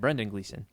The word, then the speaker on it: Brendan Gleeson: His dad, Brendan Gleeson.